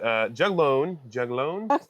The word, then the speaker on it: juglone: Juglone.